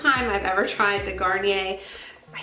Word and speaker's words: Garnier: Then I used up, this is the first time I've ever tried the Garnier. I said it right for the first time. I always say Garnier.